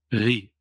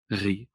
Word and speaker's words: Ri: Ri. It's probably difficult for you to pronounce the R. Ri.